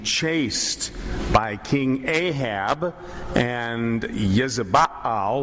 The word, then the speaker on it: Jezebel: And this is a section where the prophet Elijah is being chased by King Ahab and Jezebel, or Jezebel as we pronounce her name, being chased around because he's spoken out against evil things that he's seen.